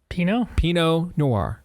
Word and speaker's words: Pinot Noir: How's it pronounced? Pinot Noir.